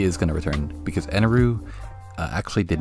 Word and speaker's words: Eneru: sure appearance and yes i am going to keep calling him eneroo because that's how they say it in the anime so just assume that's how it's said so anuru besides the